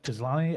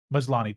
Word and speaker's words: Maslany: But man, Tatiana, is it Tizlani? I forget how you pronounce her last name. Tizlani? I think it was, isn't it Maslany? Maslani. Tatiana Maslani. She's fantastic.